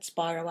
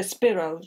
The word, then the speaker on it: Spiro: is criminals yeah and i i mispronounced it didn't i i said spyro avenue there you go apologies anybody called spiro yeah i i just remember it from tom paxton's pronunciation i've no idea it's a greek name i presume yeah yeah it is isn't it so so spiro was is much more likely than spyro that was very uh